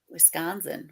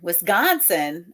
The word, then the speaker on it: Wisconsin: I'm from from Chicago we pronounce the C in Wisconsin like a g Wisconsin Wisconsin oh yeah Wisconsin that